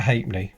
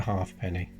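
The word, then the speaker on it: ha'penny: yep going back to pronunciation pronunciation that would always have been called a hate me no one would have called it a half penny yeah without exception whether you were working class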